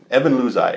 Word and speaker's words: Evan Luzai: Sorry, his name is Evan Luzai. That's the way you pronounce it. Evan Luzai, and he is a camera assistant.